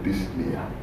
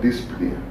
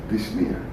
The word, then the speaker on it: dyspnea: Difficult respiration is what we call dyspnea. It's not dyspnea, it's dyspnea. The P is silent.